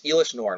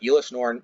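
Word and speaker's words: Elesh Norn: kind of wacky spell it's it's Elish norn which I kind of explained in my last video but I said Elis norn mother of machines card I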